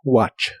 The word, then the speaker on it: watch: La T de esta palabra no se pronuncia, solo watch.